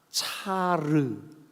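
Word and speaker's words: צר: 이 곤란이라는 말이 히브리 말로 차르 이렇게 발음합니다.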